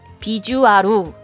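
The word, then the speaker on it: ビジュアル: 케이트 대사 보면 나 비주얼을 같은 경우를 비주 아루 라고 읽어야 되는데 어여 영어 발음으로 읽어버린 다음 이런 거죠 아직 언어와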